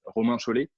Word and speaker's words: Romain Chollet: Okay, of course, listen 1 to French pronunciation for my name. It's Romain Chollet.